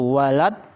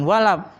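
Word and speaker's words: ولا: Nih, kamu bacanya walab. Nah, di sini kan bukan ba, tapi do. Jadi bukan walab. Walad, ya. Terus yang terakhir, dolin.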